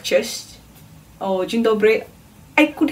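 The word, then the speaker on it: cześć: that word here so the first word is chest chest chest is hello so yeah definitely I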